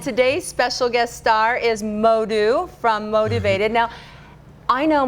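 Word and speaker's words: Modou: written in french so it's m-o-d-o-u modu so when i moved to the u.s when i moved to the u.s people had hard time because english speaking they cannot they don't pronounce oh they will say what's your name i'm like okay let me just drop the o since then everyone will say modu that's how it starts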